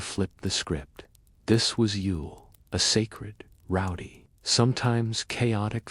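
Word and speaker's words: Yule: Long before Christmas invaded December, the Norse celebrated, pronounced Ule, and dedicated to gods like Odin and Thor, it marked the winter solstice.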